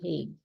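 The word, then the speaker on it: Hague: also certain International organizations so it's spelled h a g u e he the heg and in Dutch it's often also called dhog so while my yellow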